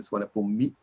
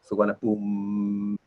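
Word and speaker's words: สุวรรณภูมิ: And then I mentioned to you these short I and U are sometimes not, or usually not pronounced at the end of the word, like suwana boom. You don't say suwana boom mi, suwana boom.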